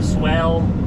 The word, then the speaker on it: swale: David Knoll was giving me a hard time that I was saying swell wrong. I guess it's swell. So anyway, they got a swell or swell rhymes with whales, what he said.